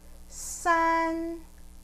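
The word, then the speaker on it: 三: like er er the number three is sun sun like sandwich then number five is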